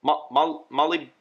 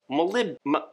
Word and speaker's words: molybdenum: That's why Component 1 contains calcium, strontium, barium, cobalt, manganese, copper, iron, zinc, nickel, chromium, and molybdenum? Molly? I think it's pronounced molybdenum. Molybdenum. That's it.